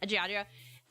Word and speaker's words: Giandrio: Giandrio. Like Geronimo, but not spelled the same.